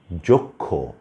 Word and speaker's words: যক্ষ: তারপরে হচ্ছে আপনার যক্ষ, এখানেও ক্ষীয় শেষে ব্যবহৃত হয়েছে, ক খ এর মতো উচ্চারিত হচ্ছে।